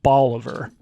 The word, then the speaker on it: Bolivar: But I saw pronunciation written out, and it's like Oliver, but with a B in the front. So I think Bolivar.